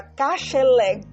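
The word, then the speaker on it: כשלג: Às vezes, quando pronunciamos rápido, parece que está um finalzinho do R. Então, eu vou colocar o G aqui para que você possa entender. Então, a palavra kasheleg, como a neve, sheleg, neve.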